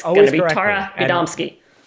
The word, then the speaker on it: Gadomski: It's going to be Tara Gadomski. Gadomski. Tara Gadomski.